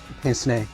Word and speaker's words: pince-nez: Pronounce the glasses again for me. Pince-nez.